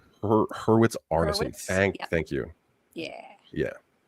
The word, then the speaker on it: Hurwitz: Please pronounce first and last your last name for me. Oh, it's uh Herurwitz and Arnison. Herwitz Arnison.